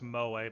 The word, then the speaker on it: Moa: Yeah, Veil, I'm pretty sure it's pronounced Moa because otherwise she'd be named Mo and that's weird.